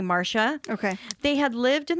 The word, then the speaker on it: Marcia: their daughter, Marcia, and it's spelled Marcia, so it could have been pronounced Marcia or Marcia, but for this episode, I'm going to say Marcia.